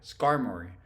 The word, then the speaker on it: Skarmory: know how to say it skari scorei scori Skarmory that's it Skarmory I caught a five uh